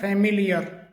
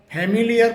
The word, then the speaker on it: familiar: उनमें पहला वर्ड है फैमिलियर। FAMILIAR। इसे कई बार फैमिलियर करके बोला जाता है, जबकि इसका सही जो प्रोनाउंसिएशन है वो फमीलियर होता है, फमीलियर।